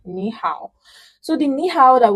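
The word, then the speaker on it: 你好: So even though it is written ni hao, you pronounce it ni hao, this ni changes to second tone, which is ni, sort of ni. So ni hao, ni hao.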